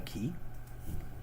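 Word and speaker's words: quay: Because you pronounce Q-U-A-Y, a key.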